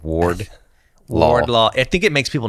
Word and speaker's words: Wardlaw: of the law says I don't know why people can't say my last name but it's it's exactly how it's spelled Ward law I think it makes